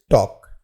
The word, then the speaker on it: talk: Our next word is टॉक, TALK। इस word में L जो है वो साइलेंट होता है और इस वर्ड का जो हिंदी अर्थ होता है वह बातचीत करना होता है।